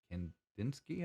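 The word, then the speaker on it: Kandinsky: in 1906 which precedes kandins kendinsky i believe is is the way he pronounced that um and the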